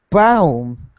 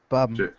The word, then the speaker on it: Baum: Bum. You would be surprised by how many people get that last pronunciation of that last name wrong. I think I always thought bomb because it's not accented.